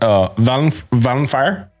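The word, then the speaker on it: Vallenfyre: I always fuck up this pronunciation, but Valenfire, yeah, as well.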